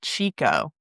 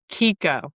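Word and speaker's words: Chicco: Well, you probably call it Chico. Oh, yes. I would have. How do you say it? Kiko.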